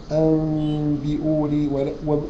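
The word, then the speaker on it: أنبئوني: وهو الباء وايه اقلاب يعني اصبحت النون ما بتتنطق وعليها ميم صغيره في المصحف فانت بتقول انبئوني برض لا تقولها نون ولا تقولها مم تقولها بين البنين فيفضل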